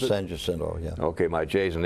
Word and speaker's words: San Jacinto: Is that how you pronounce it? San Jacinto, yeah.